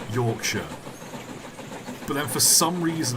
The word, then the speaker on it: Yorkshire: I can't remember which video it was I pronounced Yorkshire as Yorkshire like all my life I've always called Yorkshire Yorkshire but then for some reason I'm sat in